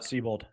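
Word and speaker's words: Siebold: How do you spell that? Seabold.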